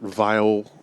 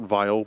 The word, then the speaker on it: Vile: band now called Kurt vile but spelled like the adjective vile so not the German surname so what gives it